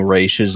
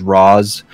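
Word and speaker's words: Ra's: though was that like they kept mispronouncing Race's name as Roz and it's race it's always been race and I will fight to the death anybody who calls it Ross also Riley I you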